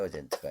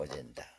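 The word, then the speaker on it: agenda: 셀프 로테이션 자기 주장 공공 의제를 갖추기에 공공구제 프라닝 더 어에 어젠트 어젠다 어젠다 어젠다 어젠트가 아니고 어젠다 공공 의제를 갖추기 권력 기우기 뭐 영량 건설 사본의 창출 이렇게 기술 방법이 있다는 걸 꼭 기억하시기 바랍니다.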